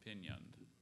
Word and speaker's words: pinioned: And there's no alternate pronunciations, right? Just the one, pinioned. And sorry, it's pinioned. We want pinioned.